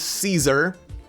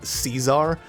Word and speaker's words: Caesar: Am I gonna say her name Caesar, or am I gonna go the Latin way and say it Caesar? And I went the Latin way. So if you see me, or rather you hear me say that her name as Caesar, that's because I'm using the Latin pronunciation for the name.